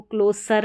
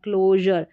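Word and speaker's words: closure: देखिए CLO को क्लो पढ़ेंगे, और क्लोजर, तो इसको क्लोसर नहीं पढ़ेंगे, क्लोजर, ट्रेजर, प्लेजर, प्रेशर और मेजर।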